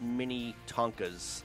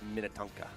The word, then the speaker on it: Minnetonka: And just to clarify, the way you pronounce that, these aren't little tiny trucks. These aren't mini Tonkas. Oh. These are Minnetonka.